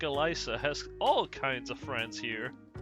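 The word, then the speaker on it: Elise: In French, if you have an S between two vowels, it turns into a Z sound. So, uh, force of habit. I know it's meant to be Elisa, but I'm [ __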